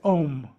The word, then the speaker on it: Om: so here it goes om it's not on it's om so it's spelled the same way there's an m with a DOT and so om is a soft M but the oral teaching